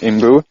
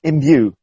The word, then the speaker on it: Imbue: support both pyrolysis and in boo I don't know if I'm pronouncing it correctly in boo-boo it's actually it's imbue you english word in you that's it